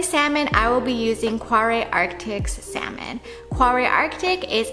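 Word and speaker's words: Kvarøy: I think the name is pronounced more like Quare, but that's a little bit hard to say. I don't even know if I'm saying it right, so they use Quare in American English.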